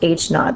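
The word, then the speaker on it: h naught: This is pronounced h knot. This h sub0.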